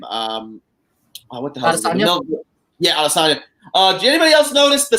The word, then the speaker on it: Adesanya: Yeah, Adesanya.